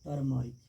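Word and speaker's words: turmeric: हैं हम लोग क्या, टर्मरिक, क्या बोलते हैं बाबू, टर्मरिक, टर्मेरिक, टर्मरिक बोलते हैं, ठीक है। आर साइलेंट और टर्मेरिक होगा।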